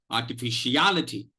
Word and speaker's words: artificiality: that there is a particular reason why fish also gets, that is the 3rd syllable, fish also gets the secondary accent.